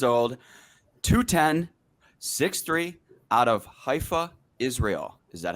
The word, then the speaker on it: Haifa: okay 28 years old 210 63 out of haifa israel is that how i say it did